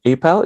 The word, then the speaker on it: APAL: Right, on to today's topic, translocal connections, introducing the Asian Performing Arts Lab in Germany, APAL for short. Is that how we pronounce it, Ming? APAL, is that how you guys pronounce it?